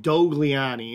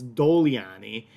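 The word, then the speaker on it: Dogliani: bottom left um and that the g is soft so when we see this see this on the label it says it looks like dougliani it's it's soft g so it's doliani and doliani is exclusively when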